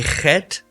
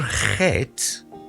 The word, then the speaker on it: Chet: Now, a Chet is basically pronounced as ch. I found that a lot of cultures actually struggle to pronounce the ch sound. Afrikaans people and Germanic people actually get the ch sound very easily.